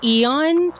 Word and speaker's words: Æon: Is it Eon or Aeon? A-E-O-N. You pronounce it Eon, but it's an A-E. I can't remember what the letter's actually called, but it's like an A-E combination letter.